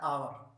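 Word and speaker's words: hour: Examples में आप देख सकते हैं, जैसे ये लिखा है, इसको पढ़ा जाता है आवर। आवर में आ उच्चारण है, वोविल है, वोविल से जो उच्चारण होता है उसमें स्वतः एन लगता है, हो जाएगा एन आवर।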